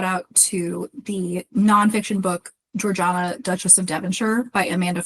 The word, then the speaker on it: Georgiana: Oh, and I will note, because she and her friends liked to say things weird, she pronounced her name Georgiana.